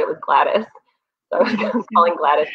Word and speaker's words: Gladys: and I kept reading the woman's name as Glade. And she started laughing, and I was like, I don't know how to say that name. And she said it was Gladys.